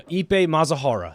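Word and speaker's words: Ippei Mizuhara: No, I believe that's the right Ippei pronunciation. Mazahara? No, Ippei Mazahara.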